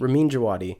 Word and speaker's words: Ramin Djawadi: Ramin Djawadi.